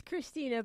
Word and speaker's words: Krisztina: It's Krisztina, but you can pronounce Z if you want.